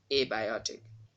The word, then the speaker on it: abiotic: Here we have two stress marks. The primary stress mark is on the second syllable from the end, and there is a secondary stress mark on the first syllable of this word, abiotic.